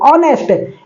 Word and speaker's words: honest: है, नाइफ मतलब चाकू, ऑनेस्ट, HONEST, ऑनेस्ट मतलब ईमानदार, हॉनेस्ट कोई थोड़ी पढ़ता है, ध्यान से समझिएगा बात को, ठीक है।